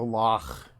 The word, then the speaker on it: loch: Also, we went to the loch, and because it's very Scottish, everyone has to say it like that with a little bit of phlegm at the end.